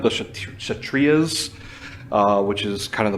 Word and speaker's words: Kshatriyas: The whatever that word is, I think the K is silent. The Kshatriyas, which is kind of the military class.